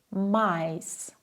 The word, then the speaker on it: Mais: Der Laut I klingt ungefähr wie das englische Wort Ei. Zum Beispiel Mais, My, Hi.